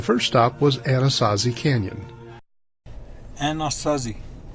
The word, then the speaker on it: Anasazi: stop was Anasazi Canyon Anasazi is how you say it in English but a Navajo you